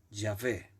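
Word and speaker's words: Yahvé: dijo yo soy jehová o según la pronunciación ya ve yo soy jehová así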